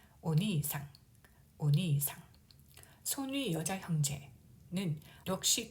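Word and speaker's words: お兄さん: 니를 보면은 이 모음이 연속으로 와서 이 장음으로 발음하면 되겠습니다. 오니상, 오니상.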